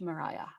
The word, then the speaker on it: Maria: say her first name, because it looks like Maria, but it's pronounced Mariah.